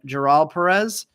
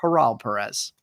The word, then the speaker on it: Haral Perez: I've been calling him Jaral Perez. Apparently it's Haral Perez.